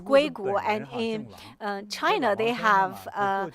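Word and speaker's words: 硅谷: In the United States, they have Silicon Valley pronounced as Guigu, and in China, they have Mr.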